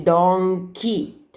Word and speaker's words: donkey: Quindi qui possiamo mettere una I per ricordarci che si legge donkey.